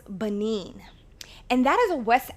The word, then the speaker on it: Benin: So it is pronounced Benin.